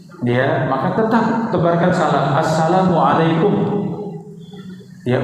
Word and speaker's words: Assalamualaikum: Tebarkan Salam Assalamualaikum ya Ucapan salam diucapkan dengan jelas ya ya para Bunda karena itu bahasa Arab ya asalamualaikum Ya dengan lafaz yang jelas ya kadang kalau cepat ya salamum ya iya lampum ya jangan ya I kadang menjawabnya